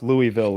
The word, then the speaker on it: Louisville: That's how rough Louisville is. Louisville was really disappointing. If you know, you gotta say it right. You gotta say Louisville.